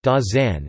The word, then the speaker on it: Dasein: Dasein, German pronunciation, Dasein, is a German word that means being there or presence.